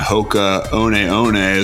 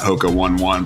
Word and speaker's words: Hoka One One: brand i'm have been wearing to death my hoka oneeone that's how you pronounce it not hoka one one pocahone ones flip flops or zories and they're